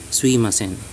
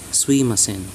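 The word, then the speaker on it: すいません: The less formal way of sumimasen is suimasen. If you want to sound like a real native Japanese, you use slur slang version of sumimasen. You could say suimasen. Make sure your intonation speed when saying the sui of suimasen is faster than when you had said sumimasen, sumi of sumimasen.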